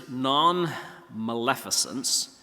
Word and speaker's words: nonmaleficence: one is sort of a hard word to pronounce um the word is nonmaleficence or as the Brits would say non Malin